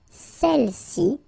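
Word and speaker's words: celles-ci: Alright, feminine plural, celle-ci. Okay, don't pronounce the final S. Celle-ci, celle-là.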